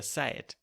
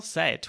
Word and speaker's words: seid: So a D at the end of a word or a syllable would usually be pronounced as a T.